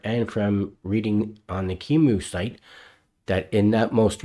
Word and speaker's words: QEMU: gooey front end to Kimu so Kimu is spelled qemu and it's the software